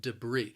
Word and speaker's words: debris: that that's larger debris the word has two syllables and the stress is on that second syllable debris now that first syllable also it has that schwa sound that uh and that second syllable has a long e sound even though the spelling is a little different we're going to end it with that long e sound debris debris say it with